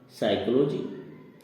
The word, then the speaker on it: psychology: इसी प्रकार दूसरा है साइकोलॉजी, इसमें P साइलेंट है, PSYCHOLOGY, इसको पढ़ा जाता है साइकोलॉजी।